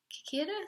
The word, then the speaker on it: cicada: Cicada, CICADA, there you go.